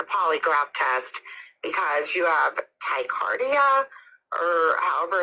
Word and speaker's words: tachycardia: test because you have tachycardia, or however it's pronounced, but your heart beats faster. It's tachycardia. Tachycardia, yes.